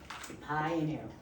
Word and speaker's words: Paillere: Paillere. Pie in air, All right. not the way it's spelled.